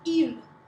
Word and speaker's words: ils: one next you have e and it's pronounced the same as this one e he e i l s we don't say the S the S only gets